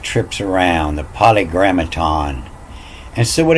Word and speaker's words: polygrammaton: It's French, like Paris is pronounced Paris. And so after a consonant, the I-S is pronounced E. So it's poly, the polygrammaton.